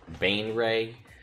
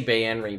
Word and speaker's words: Baenre: I think the pronunciation guide says Baenre. I say Baenre because I've listened to every Drizzt novel on Audible, and the guy who's the same narrator for all of them says Baenre, so that's what I use.